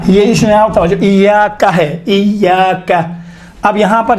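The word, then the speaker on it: إياك: ایاکا۔ اب یہاں پر ایاکا میں یہ کون سا حرکت ہے؟ چھوٹے حرکات ہیں یا بڑے حرکات میں سے ہیں؟ چھوٹا۔ آپ دیکھیں تلفظ کرتے وقت انشاءاللہ تعالیٰ یہ ملحوظ نظر رکھیں، ایاکا نعبد و ایاکا، کا نہیں ہے، کا نہیں ہے، ایاکا الگ ہے، آپ، نعبد ہم آپ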